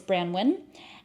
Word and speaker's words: Branwyn: it the brand is brandwin and I've heard it being pronounced a few different ways but I'm going to say brand wi cuz that's the one I hear the most and this is a